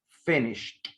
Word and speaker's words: finished: Porque cualquier verbo regular que termine en SH, lo voy a pronunciar con la. Entonces, pasado de finish es finished.